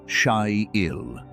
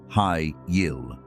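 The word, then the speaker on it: חיל: The word is Shyil. It is spelled with 3 letters in Hebrew, but in English it sounds like Hi-Yil, Shyil.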